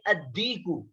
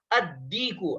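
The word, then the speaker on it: الديك: यहाँ पर भी देखिए अद्दीकु, यहाँ पर देखिए अलिफ लाम के बाद दाल आ रहा है और ये दाल हरूफ शमसी में से है, इसलिए यहाँ पर लाम को साइलेंट करेंगे और जो हरूफ शमसी है उसके ऊपर तशदीद लगाकर इसको पढ़ेंगे। ठीक है, उस पर तशदीद लगाकर पढ़ेंगे। तो क्या हो गया, अद्दीकु।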